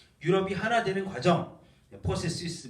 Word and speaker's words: processus: Le processus d'unification de l'Europe, 유럽의 단일화 과정. 유럽의 통일 과정, 유니피카시온 통일이죠. 예. 유럽이 하나 되는 과정, 포세시스 마지막에 S까지 발음합니다.